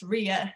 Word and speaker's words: Rya: well so people know that the word is pronounced rhea instead of ryan it's just a way of of just getting